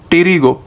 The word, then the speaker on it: pterygo: उसके बाद टेरिगो, टी इसमें पी साइलेंट है इसलिए मैंने टेरी लिखा है, टी फॉर टेरिगॉइड किनॉल।